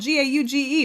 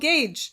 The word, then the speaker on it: gauge: get the same comment Hey You misspelled gagee hey it's spelled g- a u g e For the Love of spelling it's gauge gauge gauge gauge You misspelled guge it gets a little